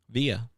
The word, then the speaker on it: Via: How would you pronounce this? V I A Via. It was VI, but I was called Via my whole life.